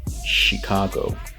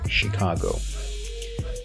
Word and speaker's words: Chicago: from the pattern and we're going to pronounce it with an SH sound so not that sound so it should be Chicago she go Chicago then we have Charlotte